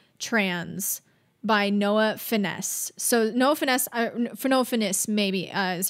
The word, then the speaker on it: Noah Finnce: So Noah Finnce, is how you pronounce it.